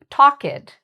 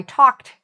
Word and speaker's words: talked: So for example, I'll hear people say talked. Oh, yesterday I talked to my friend. Now, if you listen to how I say it, yesterday I talked to my friend, there's a difference in the pronunciation.